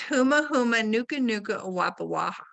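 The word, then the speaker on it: humuhumunukunukuāpuaʻa: So I have to take it apart by syllables, which is tricky. And it's huma huma nuka nuka awapa waha.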